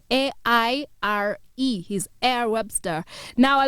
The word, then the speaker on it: Aire: his name is air air is pronounced air but it's spelled a-i-r-e he's air Webster now